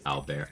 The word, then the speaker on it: Albert: They're like, well, in French it's pronounced Albert.